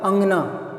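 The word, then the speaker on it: अँगना: और अगर ये लगा दिया तो चंद्र बिंदु, फिर ये उसका उच्चारण अलग हो गया, क्या हो गया अंगना।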